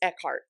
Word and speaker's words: Eckhardt: i'm gonna mispronounce it it's eckhart it is eckhart okay i think there's like a dt or something in there it was throwing me off so i'm like i think it's eckhart so but it's a